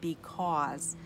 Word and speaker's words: because: We say because. So the AU says aw. That's what makes this word a red word.